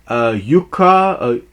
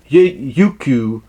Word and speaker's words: Youku: These are the early release episodes, courtesy of China's Youka. It's spelled Youku. Youku. That's what it is.